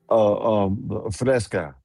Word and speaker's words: Fresca: What they call it, Vesta or the Festa, or how you say it, Sky? Fresca.